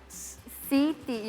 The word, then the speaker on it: Siti: So this would be pronounced Siti. Siti, exactly how it is.